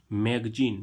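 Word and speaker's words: magazine: मैगजीन। मैगजीन means क्या होती है? पत्रिका। अब देखो यहां पर जेड का उच्चारण क्या निकल रहा है? ज। लेकिन ज कौन सा आ रहा है? ये नुक्ता वाला ज।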